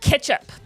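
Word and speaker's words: k3sup: Yeah, K3SU is pronounced ketchup.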